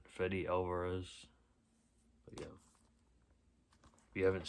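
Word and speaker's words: Fede Álvarez: Fede Alvarez, that's how you say it, Fede Alvarez.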